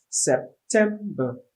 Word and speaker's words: September: month of the year so we have september the stress is on the second syllable 10.